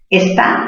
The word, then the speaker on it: está: Está también se tilda. ¿Por qué? ¿Por qué se tilda está? Mayor fuerza en qué sílaba? En la sílaba ta.